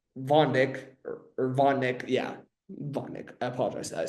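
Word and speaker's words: Vodnik: ERA, bad, except for Jaden Hill, Victor Von Dick, Von Nick, yeah, Von Nick.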